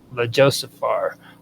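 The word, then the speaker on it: Ljósálfar: It's a really messed up word, Lejosaphar, which is spelled Ljosalfar, and that means light elves.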